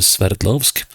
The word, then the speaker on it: Sverdlovsk: And we are going into, to the Ural Mountains, and we're going to Sverdlovsk. That's a name I have to work on, concentrating on pronouncing, because Sverd, as we say in Norwegian, is the Norwegian term for sword.